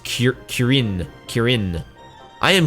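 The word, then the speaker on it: Krjn: I am It's probably pronounced Kirin. Kirin. I am Kurin, a hunter of clan centurio.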